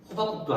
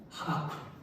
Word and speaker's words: 하박국: 호박국도 아니고 하박국.